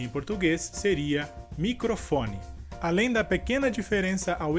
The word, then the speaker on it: microfone: Além da pequena diferença ao escrever essas palavras, temos também a diferença na sílaba forte, que no caso, na palavra em espanhol, seria a sílaba cro, e em português seria a sílaba fo.